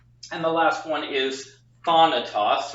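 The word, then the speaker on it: θάνατος: And the last one is thanatos. Remember that that alpha makes a kind of an ah sound, like in father. So thanatos, thanatos, starting with the emphasis on the first syllable.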